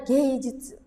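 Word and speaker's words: 芸術: Jadi dibacanya gay jutsu, gay jutsu, skill seni gitu ya.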